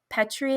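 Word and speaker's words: Petrie: date because the director Donald Petri I think is how you pronounce it that's his wife's birthday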